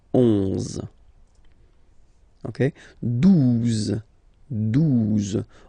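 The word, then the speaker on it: douze: Okay, 12. 12. O-U, the two together will give you the sound OO, okay? And then Z, 12, 12, all right?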